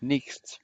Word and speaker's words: nichts: Von sich behauptete everybody, Von sich behauptete ich weiß, dass ich nicht weiß. ich weiß, dass ich nichts weiß. Good. Thank you for getting this S pronounced. I missed it. Ich weiß, dass ich nichts weiß.